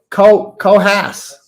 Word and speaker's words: Coos: Coos County is pronounced Cohas.